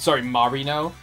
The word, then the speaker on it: Marino: I think more accurately, the thing to me, with Marino in particular, Marino, where we have to pronounce it like Naruto, I guess, is not necessarily why does she have them, why are they so big?